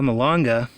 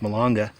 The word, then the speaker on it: malanga: way personally but anyway Mulenga malanga i think it's pronounced milonga it is so easy